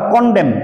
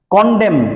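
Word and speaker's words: condemn: আর এন স্কর্ন অথবা কনডেম সিও এন ডিই এম এন এন উচ্চারণটা হবে না যেমন এস এনই এম এন সলেম সলেম মানে গাম্ভীর্য সলেম এন উচ্চারণ হয় না কনডেম এটাতে এন উচ্চারণ হবে না তো কনডেম ডিটেস্ট কন্ডেম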